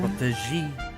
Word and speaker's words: protégé: It's pronounced protege. Yeah. Protégé. It's a French word.